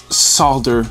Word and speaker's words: solder: Also, solder, solder, solder all mean exactly the same thing. Uh I know that in certain places uh people are adamant that it's solder and the L is silent.